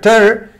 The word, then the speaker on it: tear: Tear significa aquí rasgar, ripiar.